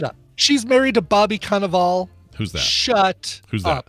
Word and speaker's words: Cannavale: Or Cannavale, is it pronounced? Bobby Cannavale? Cannavale. Just Google Bobby Cannavale already. Cannavale. I always get the Cannavale. Canal Vale.